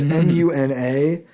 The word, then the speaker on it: Muna: I don't know how you pronounce it. It's Muna.